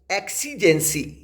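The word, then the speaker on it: exigency: लिए लेके आया हूं वो है पहला वर्ड एक्सी जेंसी एक्सी जेंसी स्पेलिंग सुनिए ई एक्स आई जी ई एन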